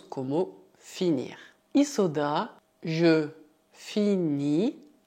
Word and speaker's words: finis: Isso dá je finis, cuidado, o S final é mudo, tu finis, il finit, aqui também o T final é mudo, nous finissons, vous finissez, elles finissent.